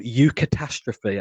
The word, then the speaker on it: eucatastrophe: and films, and even in the Bible, called eucatastrophe. I think I'm pronouncing that correctly.